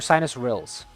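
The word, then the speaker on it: sinuous rilles: These are called sinus rhinules, I believe it's pronounced, and basically, or sinus rills, my bad.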